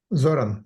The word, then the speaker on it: Zoran: So for I'll probably not pronounce this right. Zoran. Zoran, yeah, that's Zoran.